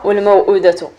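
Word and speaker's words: الموءودة: ولكن كاينين واحد 2 كلمات في القرآن الكريم خارجين على القاعدة، ضروري تنتبه ليهم، لأن إلا وصلتيهم ومشيتي طبقتي 4 الحركات عليهم وخا فيهم هاد الشروط كتحسب خطأ. هما موئلة والموؤودة. هاد الكلمات كيتنطقوا عادي، كيتنطقوا حرف ساكن عادي.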